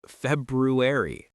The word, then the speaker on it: February: It's February.